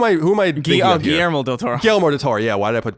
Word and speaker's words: Guillermo: yeah oh I'm sorry Guillermo del Toro you get yoru mo how do you say that you're Hispanic Guillermo yeah thanks to that nice